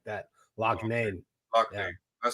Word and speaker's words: Loughane: Say Lougane. It's like L-O. It's Loughane. Lougane, like that. Lougane.